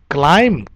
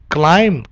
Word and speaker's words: climb: yes not climbing climbing if there are m and b then its pronunciation is climb climb climbing yes there is